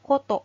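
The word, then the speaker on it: 事: tarikan untuk kanji Ji goto atau Hai Jadi kan gini kalau berdiri sendiri bisa juga dibacanya Koto Koto atau yang artinya kejadian atau hal kemudian apabila disambungkan atau dipasangkan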